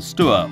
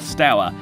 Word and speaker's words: Stour: For 5 centuries, Harwich has literally guarded the mouths of the Orwell and the Stour, or Stour, however you want to pronounce it.